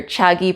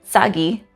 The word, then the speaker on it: chagi: brother or sister and you may hear the sounds cha and sa used interchangeably depending on the words and usually it's just